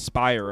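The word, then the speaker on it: Speier: I can tell you right now they used Spurious Ben Brash and Munoz. I know that's not how you say his name. It's Spire apparently.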